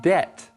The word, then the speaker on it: debt: debt now let's look at this word word debt four letters d e BT debt a debt